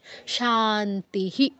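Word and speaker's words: শান্তিঃ: ফলা নেই কৃষ্ণার প্রণামস্তু আর শান্তিস বিসর্গ উচ্চারণগুলো স্পষ্ট করে করতে হবে শান্তিস শান্তিস শান্তিহি তো এই জিনিসগুলো একটু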